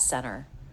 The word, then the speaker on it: center: It's pretty common to drop the T when it comes after an N, like in the word center. A lot of people will pronounce that center.